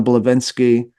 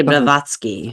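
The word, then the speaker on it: Blavatsky: that happens with Crowley and Nichzche and Helena Bllovvenki or about am I pronouncing that right? Lady Blavatski Blavotsski, sorry.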